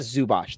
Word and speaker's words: Zubac: for the LA Clippers iasa zubo I iita zubach that's how you say it iita zubot um